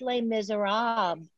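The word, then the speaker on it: Les Misérables: bring you les miserables uh marbles misers it's pronounced les miserables oh that's it in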